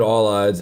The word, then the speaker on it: Paulides: not intend to do I didn't know that the P was silent so david all eyes is not a conspiracy